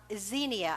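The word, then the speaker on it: Xenia: is a Greek an ancient Greek expression uh Zenia I think is the way it's pronounced x n i a and it is the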